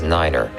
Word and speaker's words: niner: at a time and pronounce the number 9 as neider for example to refer to runway 29 say runway two-niner all vehicles and aircraft